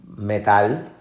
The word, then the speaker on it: metal: podemos utilizar por ejemplo metal metal la sílaba fuerte o la que llevará afectado connotaciones metal no es metal metal suena como la música de la escuchan alguna gente metal es la sílaba tónica la última y no siempre tiene